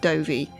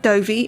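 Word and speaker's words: Dovey: as episode 667 Matt dovy is very tall and very British and although his surname rhymes with Dopey all other similarities to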